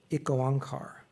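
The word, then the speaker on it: Ik Onkar: is something called and forgive me if I pronounce it wrong. Um it goankar.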